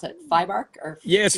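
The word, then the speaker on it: FIBArk: So the one in your hometown is called I'm going to pronounce it FIBARC or yes, FIBARC.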